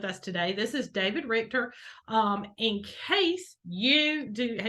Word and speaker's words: Richter: of your last name Richter like the richness character yeah like directors yeah I almost said Riker and I'm like that's like the jail so so hey everybody